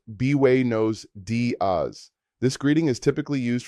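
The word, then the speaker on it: buenos días: Good morning translates to Buenos Diaz pronounced bway nose daz.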